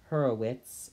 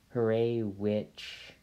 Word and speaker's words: Hurewicz: I should note that I was taught to pronounce this her a but I've definitely heard people say Horowitz and her a witch and just giving up on pronouncing it properly and I'm not sure that I'm pronouncing it properly I think it's polish but yeah so I just